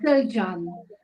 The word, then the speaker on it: Selcan: Because I've got a Turkish Cypriot friend, and her daughter's is called Selcan, and it's spelt with a C, but it's pronounced a J.